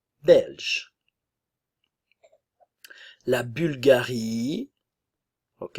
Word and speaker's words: Bulgarie: belge belge la Bulgarie ok attention ici nous avons le son u français u u la Bulgarie bulgare bulgare ok le